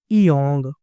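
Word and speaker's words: 이응: Consonant जो है ना, ये एक साइलेंट कॉन्सोनेंट है, इसको बोलते हैं इयोंग। ठीक है, इयोंग। अब यहाँ पे इसकी आवाज पहली पोजीशन पे भी नहीं है, यहाँ पे भी नहीं है, दोनों जगह पे साइलेंट है। एंड पे इसकी आवाज आईएनजी की या अंक की निकालते हैं, अंक की।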